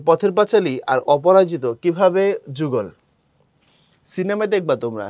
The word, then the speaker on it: অপরাজিত: উপন্যাস পথের পাঁচাল এবং অপরাজিতা কথাটা অপরাজিতা না কথাটা হচ্ছে অপরাজিত প্রপার বানানটা হচ্ছে অপরাজিত শেষে আকার হয় না এবং অপরাজিত হিন্দু ধর্ম